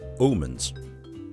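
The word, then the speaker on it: Aamanns: This is world famous Omens. Yes, the double A is pronounced as an O in the Danish language, just so you know.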